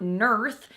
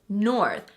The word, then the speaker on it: north: It's not nurth, it's north.